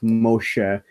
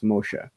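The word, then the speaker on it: משה: you have things like Moshe, which is actually how you are supposed to pronounce it in Hebrew, is Moshe.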